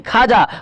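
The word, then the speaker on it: خواجہ: उसी तरह बच्चों यहाँ पर वाव जो है ना, वाव साइलेंट रहता है। ख्वाहिश होती है बच्चों, ख्वाहिश नहीं ख्वाहिश। ख्वाजा नहीं खाजा, ख्वाब नहीं ख्वाब।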